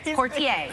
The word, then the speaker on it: Poitier: Sydney put kid I said it right yes quartier became the very person me heaven 1963 lilies